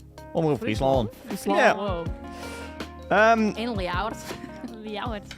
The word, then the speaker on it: Omroep Friesland: Omroep Friesland. Omroep Friesland.